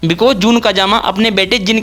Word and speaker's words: जून काजामा: पता चल गया है, जिसे हम गेम खेलते टाइम जन काजामा कहते थे। गाइस, वो जून काजामा है।